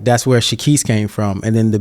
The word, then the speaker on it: Shekeese: I was like bro it's not shahis it's just shaiss like the Reese or the East and he goes oh